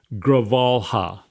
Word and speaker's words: Grijalva: Gravalha. Damn me. He knows seating Adelita Gravalha, just elected in Arizona, would trigger a vote on the Epstein files.